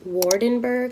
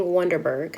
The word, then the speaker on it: Waardenburg: It's pronounced Waardenburg, I think.